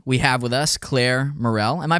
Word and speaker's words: Morell: And today we have with us Claire Morell. Am I pronouncing that correctly? Is it Morell?